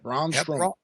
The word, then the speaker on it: Braun Strowman: Braun Strowman or Brown? I think you got it. Braun Strowman.